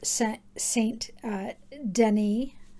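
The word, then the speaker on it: Saint-Denis: And I have one for Volume 1, Volume 2, Cosette, Volume 3, Marius, Volume 4, Saint Denis is probably how it's pronounced. It looks like Dennis to us Americans.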